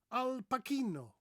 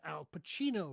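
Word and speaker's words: Al Pacino: film star let's say and you call him alpino Al pakino that's not his name his name is alpacino right it's not Al pakino so by mispronouncing his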